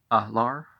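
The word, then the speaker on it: Alar: he make a courtesy so does gabriel a-l-a-r ah lar l-u-s-d-a sometimes i'm not going to do this separate pronunciation where you have a different than that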